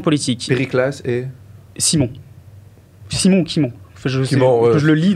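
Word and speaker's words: Cimon: sont des opposants politiques pass et Simon Simon Kimon je sais je le lis donc je sais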